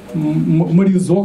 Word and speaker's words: Маризо: Компания Маризо, как мне сказали, на последний слог до ударения.